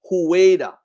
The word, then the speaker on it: Hueda: And X-Weda is Hueda, H-U-E-D-A. For the people that's coming here, the white supremacists that come there, they pronounce it in their own language. Fida, Judah, Wida.